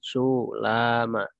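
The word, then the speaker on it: سلامى: Jadi cara membacanya bagaimana ya, domisil sulama. ya sin muhmalah ya, dan meringankan lam tanpa tasdid.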